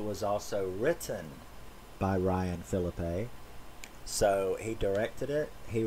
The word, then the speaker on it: Phillippe: to call him ryan felipe like french you know or whatever well it turns out that according to him his name is pronounced philip with a canadian a so uh philippe ryan